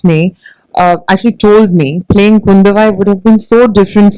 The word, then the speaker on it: Kundavai: So obviously you're playing Princess Kundavi. I hope I got the pronunciation right. Kundavai. Oh, Kundavai. I'm so sorry for that.